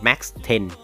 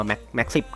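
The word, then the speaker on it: MAC-10: buy นะ ก็ คือ ปืน แม็ก Ten นะ ครับ หรือ ออก เสียง ว่า แมค 10 ก็ ได้ นะ เนี่ย 3 ๆ ต่ำ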